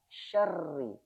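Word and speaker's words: شَرِّ: Makanya ketika membaca huruf yang ada tasdidnya harus kita sedikit kasih tekanan. Syarri syarri syarri.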